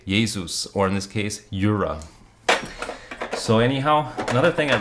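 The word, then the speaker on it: Jura: that I really yeah yura is spel is pronounced with a Y sound because it comes from Switzerland so in German you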